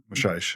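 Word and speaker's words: Maçães: referencing Bruno but yeah his last name is Mash mash which is spelled m a a e s his books right here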